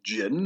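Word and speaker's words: Djinn: It's pronounced Jin, or actually it's probably Jin. It's probably Jin. There's probably a more precise Arabic pronunciation. But basically, it's the G sound and not so much the D.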